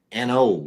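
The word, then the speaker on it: An Oa: N O is the pronunciation.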